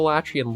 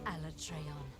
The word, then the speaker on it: Alatreon: An Alatreon. So that's how they might pronounce it. Alatreon. I was never entirely sure, but I feel like that could be the proper pronunciation for it.